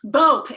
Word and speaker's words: Bopp: Did I pronounce that right? Nope. It's Boop. It's not even that. Bopp.